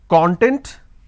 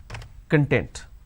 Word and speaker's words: content: Now I can either pronounce this as k or n, then tent. I can either pronounce this as content or I can pronounce this as content. So content, content. We don't really understand what to be used where. That is where we make a mistake.